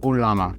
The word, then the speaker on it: ulama: They have shortened it, thankfully, to Ulama is the modern pronunciation of the game.